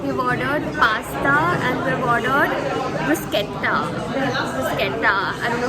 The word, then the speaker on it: bruschetta: This is the bruschetta I was talking about.